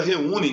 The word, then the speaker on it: reúne: Porque o U não forma ditongo com a vogal anterior e não forma a sílaba com a consoante seguinte. Isso quer dizer, ele é um hiato. Como hiato, o reúne deveria, por obrigação, receber acento.